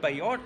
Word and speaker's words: Bellott: it's Don Ennis, and I am here with Bellott. Did I pronounce that right?